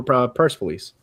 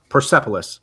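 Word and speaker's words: Persepolis: They got drunk and they took over Pur Police. Percipilus is how you say it in English.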